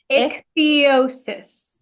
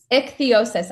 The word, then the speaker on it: ichthyosis: And I think to say, not only in terms of your all right, I always mess up the pronunciation. Ichthyosis. Ichthyosis. I always love to add an extra little syllable in there.